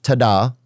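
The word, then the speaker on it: Tadhg: So they don't spell it like Rory. The next one, Tadgh, Tada. Or Tig. Tig.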